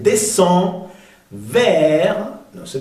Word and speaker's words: descend: Al final no se pronuncia la C, descend vers, no se pronuncia la S, le village.